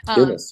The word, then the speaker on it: Dumas: Dumas, yeah.